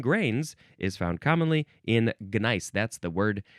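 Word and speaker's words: gneiss: is found commonly in gnice. That's the word g ne i ss. Is it pronounced nice? Well, I added the G sound to help you understand that it was different than the word nice.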